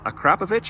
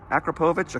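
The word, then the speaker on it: Akrapovič: was one from, uh, Acraovich, I believe is how you say it. Acropovich, Acraovich.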